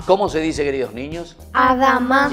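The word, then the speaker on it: אדמה: Adán viene de la palabra hebrea y se dice Adamá. ¿Cómo se dice, queridos niños? Adamá.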